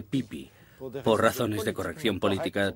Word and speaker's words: Pepi: los dos por ejemplo el rey pepi leído correctamente debería pronunciarse pipí por razones de corrección